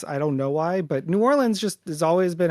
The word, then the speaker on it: New Orleans: It's New Orleans, okay? Like I feel like if you say New Orleans, that's when we know you're not local. Okay. Some people will say N'awlins cuz I don't know